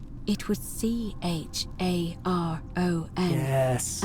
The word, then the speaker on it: Charon: The name you heard wasn't Karen. It was Charon. Yes. As in Charon, the ferryman of the dead.